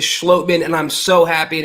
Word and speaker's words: Schlottmann: it for months now it is schlotman and i'm so happy